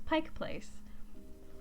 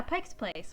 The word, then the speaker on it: Pike Place: My coworker laughed at me the other day because I had corrected a customer, and I was like, it's Pike Place. And they're, yeah, Pike's Place.